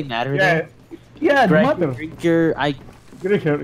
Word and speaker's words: Griecher: It's Griecher. It's I first pronounced. I know. It's alright. Yeah, but Soccer makes the same mistake. He says E first before I.